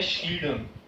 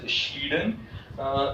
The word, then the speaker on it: Schleiden: Theodore श्लीडन, this person is often pronounced in, you can say, wrong manner. if अगर आप accent के language में discussion करोगे तो अलग अलग प्रोनाउंसिएशन है, लेकिन मैं स्पेलिंग पॉइंट ऑफ व्यू बोलता हूँ तो ये पर्सन है श्लीडन, SCHLEIDEN, श्लीडन।